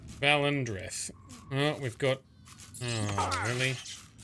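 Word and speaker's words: Valen Dreth: That's how you pronounce the name. Valendreth.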